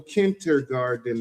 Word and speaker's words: kindergarten: National Kindergarten Day. How do you say kindergarten? kindergarten. Kindergarten. It's Garten. Kindergarten. Kindergarten. Kindergarten. See, yes, Kindergarten. it's not garden.